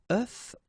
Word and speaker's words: œuf: if you listen carefully, the pronunciation is changing quite much, because for the singular form it's œuf, but then for the plural form here it's okay? Des œufs.